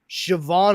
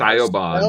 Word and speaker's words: Siobhan: That's a little harder to just Too roll many off syllables. Yeah. And then my sister was Siobhan Elizabeth.